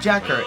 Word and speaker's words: JAKQ: Cur d g or J AKQ is pronounced Jacker and a mission to